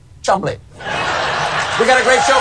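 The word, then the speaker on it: Cholmondeley: Savage what I'm sorry I'm being told it's actually pronounced Chum we got a great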